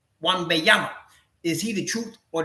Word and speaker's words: Wembanyama: Wembanyama, is he the truth or the next KP?